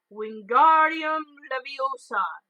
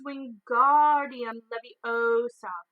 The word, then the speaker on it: Wingardium Leviosa: arms like a windmill you're saying it wrong Harry heard from my nice nap it's Wingardium Leviosa make the guard nice then long you do it then